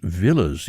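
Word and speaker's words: Villiers: of Lock's fam wife's family and that's actually pronounced Villas even though there's an eye in it Elizabeth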